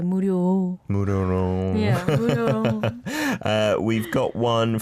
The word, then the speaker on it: 무료로: 무료, but you can be a little softer with the 리을. So say 무료로.